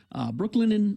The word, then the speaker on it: Brooklinen: Brooklinen Sheets named the winner of the best of online bedding category in Good Housekeeping.